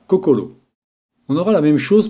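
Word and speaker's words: 心: La prononciation des caractères empruntés désignant le cœur devient shin. Cependant, en japonais pur, on dira kokoro.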